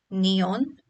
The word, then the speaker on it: neon: And lastly, neon does not have any diphthong but 2 separate vowel sounds, so it remains as a 2-syllable word.